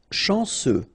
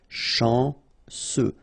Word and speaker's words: chanceux: Chanceux. Final X not pronounced. And then remember, C, E, U will give you this se sound. Chanceux. Chanceux.